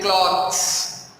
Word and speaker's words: cloths: People are normally mistaken about clothes and cloths. You hear my pronunciation? Clothes and cloths. Clothes, cloths. There is a difference between these two words, not only in pronunciation but also in spelling and in the meaning too.